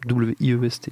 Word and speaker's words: Wiest: Je sais pas comment ça se prononce. W-I-E-S-T. Wiest. Diane West. Diane West. Diane West, juste West, ok.